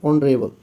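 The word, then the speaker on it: honorable: एच है है ना यह जो एच है फर्स्ट लेटर जो एच है वो साइलेंट है ओ से यहां प रेबल ओ से इसका प्रोनंसिएशन जो है ओ से है इसलिए यहां पे एन का यूज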